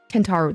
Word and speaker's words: Kentaro: this is another um messages to Mira canaro kentaro that's how that's how you say his name